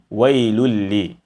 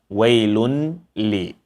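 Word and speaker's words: وَيْلٌ لِّ: If you listen carefully, or if you are using some earpiece, you will hear that I am not saying wailun li. I'm not making clear the silent noon, the hidden silent noon, or rather I'm not making clear the sound of the hidden silent noon, wailun.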